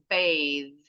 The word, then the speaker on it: bathe: Jadi kalau ada e-nya itu th-nya pasti voice di belakang. Breathe ada e-nya. Bathe ada e-nya.